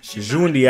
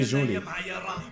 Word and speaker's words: Djoundi: DJOUNDI, I said it right. See, DJOUNDI. The D is silent.